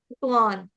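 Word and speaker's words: त्वां: त्वा त्वा के ऊपर जो अनुस्वार है उसका उच्चारण करेंगे। क्या करेंगे? न से। हलंत न से। क्यों? क्योंकि आगे आ गया है द तथ धन न तथ ध न तो इसलिए यहां पर आ जाएगा त्वान त्वान उसके बाद दीप्त दीप्त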